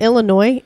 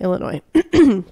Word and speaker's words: Illinois: was an Indian thing it's a frenchification of an Indian word gotcha and that's why there's a silent s cuz French they we